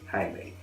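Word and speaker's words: Haley: how to spell it, there are numerous spellings, all of which have the same sound when spoken, and it is pronounced Hayley.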